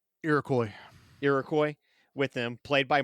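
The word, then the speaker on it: Iroquois: Character arc is really great because he is a French knight who has an Irakqua. Is that how you pronounce it? Irakcoy.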